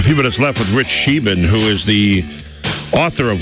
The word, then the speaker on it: Scheben: Yeah, Rich Scheben.